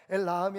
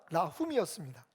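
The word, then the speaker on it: אל רחום: 그랬더니 이 히브리어하고 발음이 좀 다른 것 같아서 보니까 엘 라함이 아니라 라훔이었습니다.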